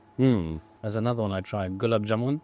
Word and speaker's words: gulab jamun: Gulab jamun. Gulab jamun, yeah, that one, good one. Yeah. Yeah, yeah. Is that how you pronounce it?